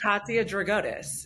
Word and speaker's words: Katia Dragotis: uh, I know, but like How do everyone, how do we pronounce it for our listeners? Katia Dragotis.